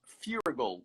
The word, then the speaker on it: Feuerriegel: inviting me just quickly somebody asked furygull is how i pronounce my last name um it's it's it's